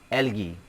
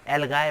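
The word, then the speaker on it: algae: Third group of micro organism है एल्गी। इसे एल्गी या एल्गाए पढ़ा जाता है, ये दोनों प्रोनाउंसिएशन करेक्ट है, एल्गी या एल्गाए।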